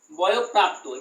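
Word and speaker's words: বয়ঃপ্রাপ্ত: বয় বিসর্গ প্রাপ্ত, বয় প্রাপ্ত, পরে ডাবল হবে, তাহলে কি হবে বয় প্রাপ্ত। এটাও কিন্তু উচ্চারণ কিন্তু পরে ডাবল হবে, কারণ আমরা জেনেছি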